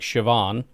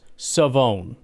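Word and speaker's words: Shavon: His first name despite being spelled s h a v o n which looks very much like Siobhan. In fact, that was not I would have thought maybe Sioone, but that would be if there's an E, but it's like it's got to be Siobhan, right? No, it's Savone.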